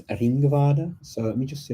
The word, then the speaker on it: Ringvaade: Google and add in Ringvada, which is spelt Ringvaade, Ringvada. Okay, Ringvada.